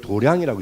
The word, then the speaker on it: 도량: 태권 도장할 때 도장이 근데 왜 도장이라 아니고 도량이라느냐 그러면 도장은 몸에 힘을 키우는 거를 도장 이라 그래요 몸에 힘을 기우는 거 마음에 힘을 기우는 걸 도량이라고 읽습니다 그러니까 도량이라고 자비도량 그면 온하고